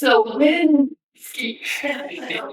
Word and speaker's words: Cywinski: It's Cywinski.